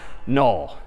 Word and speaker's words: NUL: And this character is, again, sort of pronounced null, or written N-U-L.